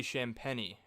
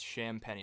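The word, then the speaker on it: Champagnie: also pronounce that um it's actually champany correct champagne i think it's champagne i don't know i don't really know i don't even know i said champagne he gave he gave us a lecture on it i kind of forgot about it i think the correct way is sham penny i don't want anybody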